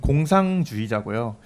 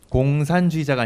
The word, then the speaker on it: 공상주의자: 저는 이제 제 닉네임은 공상주의자고요. 공산주의자가 아니라 공상주의자이기 때문에 발음에 좀 주의를 해주시면 좋겠습니다.